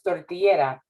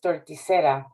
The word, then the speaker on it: torticera: Torticera, a highbrow word, by a process of popular etymology, pronounced wrongly as tortillera by their phonetic similarity, as in she is tortillera instead of she is torticera by an error of pronunciation.